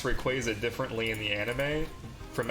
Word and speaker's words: Rayquaza: is Rayquaza which I'm pretty sure is based on quazars so I've always pronounced it Rayquaza but I've heard so many different variations of that name Rayquaza Raya Ray Kaza Q's can do a